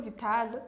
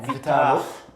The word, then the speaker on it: Vital: Viateur no ni Vital Vital yatubwiye ko yitwa Vital sura twumve Vital uzi ko ushobora kwenda mugira pronounce ugasanga uvuze ngo Vitalo canke Vitalo akeshi nkunda kuvuga